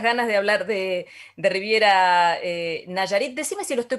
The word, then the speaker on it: Nayarit: Nayarit, correcto, pero lo Ah, pronuncias bien, me gusta.